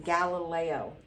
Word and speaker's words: Galileo: Now, when you see this, these brackets, that's how to pronounce his name, Galileo, created a telescope that he used to observe the night sky.